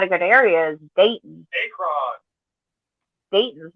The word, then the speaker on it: Akron: Oh, is it Akron? Is that how you say it? Akron.